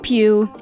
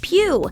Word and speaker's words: Pugh: name on google cameos it's pew not pug or poe or pudge how to say florence